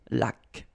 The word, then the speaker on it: laque: When you get this QU, well, U is not pronounced. So you get k, like that. Une laque.